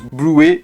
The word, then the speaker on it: Bluey: C'est l'une des seules fois où je suis d'accord qu'on prononce Blue et pas Blui. Non mais s que pour répondre à ça en vrai prononcez Bloui si vous voulez euh